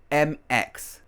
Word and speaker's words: Mx: to Remy her horific is MX pronounced like mix so we have Ron